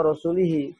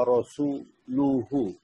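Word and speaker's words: رسوله: Nah, itu yang keliru itu dibaca wa rasulihi, padahal mestinya dibaca innallaha bari'un minal musyrikina wa rasuluhu.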